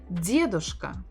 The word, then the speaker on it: дедушка: Дед or или дедушка, дедушка, дедушка, дедушка, дедушка. Stress on the first syllable.